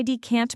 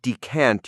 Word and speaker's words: decant: You wouldn't decant your clothes, for example. That's right. It's only for liquids. For pronunciation, the stress is on the second syllable.